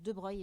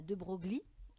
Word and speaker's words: de Broglie: français louis de breuil ça se prononce de breuil et pas de broglie il a une place